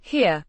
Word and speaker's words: hier: a face here means here pronounced here similar to the English word here but with a slight softer e.